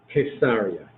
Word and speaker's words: Caesarea: say it both ways Caesarea maritima Caesarea the proper pronunciation is case area concerned with a hard